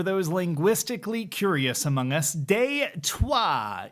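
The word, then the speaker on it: Détroit: And yes, for those linguistically curious among us, deuah is the French spelling Detroit pronounced in the old tongue like you're swearing at your transmission.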